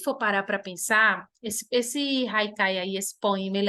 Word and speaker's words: Haikai: Haikai, tá? Haikai. A pronúncia é essa. Esse H aí tem som de R.